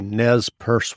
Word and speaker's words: Nez Perce: and if someone listening isn't familiar with the nez purse war and did i pronounce that correctly yes you did um can